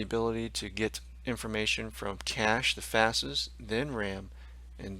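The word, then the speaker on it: cache: what's known as cash actually pronounced cash and typically that's attached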